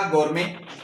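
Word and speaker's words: gourmet: जैसे हमने कहा गौर में यहां पे टी साइलेंट हो गया।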